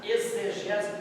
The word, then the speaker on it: exegese: Exegese, por exemplo, se escreve com X, mas o som é de Z.